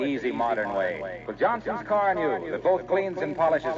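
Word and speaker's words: Carnu: And of course, do it the easy modern way, with Johnson's Car New, that both cleans and polishes in one application.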